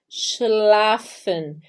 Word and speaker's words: schlafen: falar o x e o l então fica schlafen que é o verbo dormir o sch muita